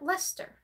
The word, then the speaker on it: Leicester: And just within this last summer, I learned how to pronounce that word, Leicester. Because it is spelt weird, but it's pronounced Leicester.